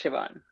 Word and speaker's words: Shivonne: Is that how you pronounce your name? Is it Shivonne? Yes, Shivonne.